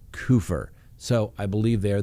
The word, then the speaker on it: Kupfer: of the name but the news organization that interviewed the family pronounced it coofer so i believe they